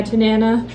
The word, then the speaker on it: Tanana: There's the Tanana and the Nanana. And, so some people call it the Tanana. Yeah, Tanana.